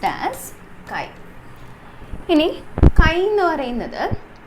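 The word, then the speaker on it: χ: add it to the mole fraction hi this pronounced as chi in a kain or another can be defined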